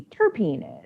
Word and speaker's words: terpene: off with what a terpene is. Now, the lady you learned about, had your initial introduction into terpenes with, she said it terpen, right? She said terpen. So I've always heard it as terpene, but so if anybody